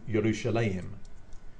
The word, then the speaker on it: Yerushalayim: In the 1,000+ years between that consonant text being written and the Masoretes coming along and vocalizing the text, the pronunciation had changed to Yerushalayim.